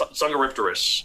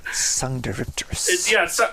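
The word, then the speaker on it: Dsungaripterus: That it begins with a D, so it has a silent D and a silent P, and it's Sungaripterus.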